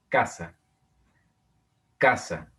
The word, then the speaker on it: casa: Casa, casa. Si ustedes leen casa, podrán notar que el acento está marcado en la penúltima sílaba, en K.